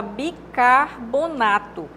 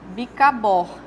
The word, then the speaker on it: bicarbonato: nós temos a palavra bicarbonato Essa é a pronúncia correta aqui ó bicar e não bicabornato não é no Bohr é no car bicarbonato OK a palavra muçulmano